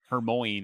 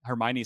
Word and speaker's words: Hermione: that I really read and I remember I mispronounced Hermione in my mind right I thought it was like Herm Moine or I was like what a weird name I why would you name your child that Hermione sounds a lot prettier than Herm Moine but